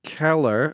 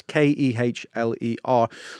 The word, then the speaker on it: Kehler: He's played by an actor called Jack Keller, who Right. or Kerler, I don't know how you say his name, it's Kehler.